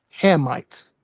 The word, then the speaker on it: Hamites: The correct way to say it is the the correct way to say it is Hammites.